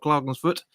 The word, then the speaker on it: Klagenfurt: I think you pronounce it Klagenfurt.